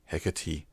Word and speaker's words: Hecate: hecatee it looks like he kept what is pronounced hecatee or Royal Navy versa HMS hecatee returned to